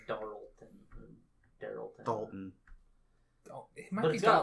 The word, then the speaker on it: Darlton: It's Dalton. But okay. But in the sub is Darlton. It's got an R in it.